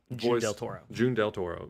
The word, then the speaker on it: June Del Toro: June Del Toro, voiced by Montse Hernandez.